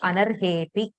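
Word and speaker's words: अनर्हेऽपि: So while pronouncing, we should not pronounce the akara, because sandhi is primarily about pronunciation. So how we speak, from the way we speak, we should be able to write it down. So we should just say anarhepi.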